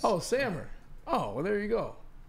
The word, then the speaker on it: Samer: It's Sammer, like hammer, but with an S. Oh, Sammer.